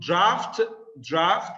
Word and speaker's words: drought: Drought. Drought. Here, the GH is not pronounced.